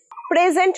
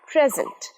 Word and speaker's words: present: Present নয়, present, present. Everybody নয়, wordটা body হলেও pronunciation body, everybody.